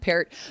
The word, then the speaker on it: Peart: don't know the drummer of Rush, here's the pronunciation of the Bronco in question. Here with a newly signed tackle, Matt Pert.